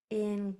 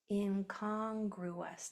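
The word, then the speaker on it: incongruous: Now, this is accented. So, I'm going to say this one stronger. Inongru. Last syllable is us. Inongruous. In congruous.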